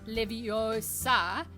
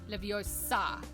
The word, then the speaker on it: Leviosa: When they say it's leviosa, not leviosa, I can't think of any multi-syllabic Latin words off the top of my head that stress the final syllable. Under the rules of the English pronunciation of Latin, you should stress the penultimate or the anti-penultimate, depending on whether the penultimate is long or short.